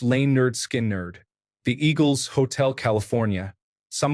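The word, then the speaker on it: Lynyrd Skynyrd: Leonard Skinnard. pronounced lane nerd skin nerd the eagles hotel California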